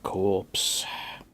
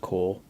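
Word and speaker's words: Korps: on the old death corpse as it's spelled actually pronounced core cuz you know English.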